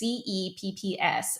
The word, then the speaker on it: CEPPS: actually USAID's partnership with, I think it's pronounced CEPS or KEPS. It's CEPPS. And essentially what that does is USAID funnels money to CEPS.